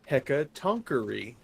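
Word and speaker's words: Hecatoncheir: Boyfriend corrected my correction. It's pronounced hecatonkery.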